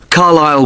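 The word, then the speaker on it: Carlisle: 45 Carile Way. Could you spell Carlile for me? Sorry. It's C A R L I S L E. You don't pronounce the S. Carile way.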